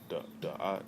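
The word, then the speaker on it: דעת: It was Da'at or Yada. That's how you say it.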